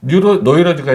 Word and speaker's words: 노이로제: 노이로제가 이제 독일식 발음이고 뉴로시스.